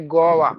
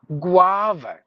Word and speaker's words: guava: to struck your mind most of us would say gawa Goa fruit go Goa it's not Goa guava just write it down